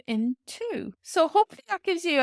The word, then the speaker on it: tú: like, oh, oh, B And then u fada it's long sound is Ooh. Ooh tú actually means you tú, so tá tú means is you are.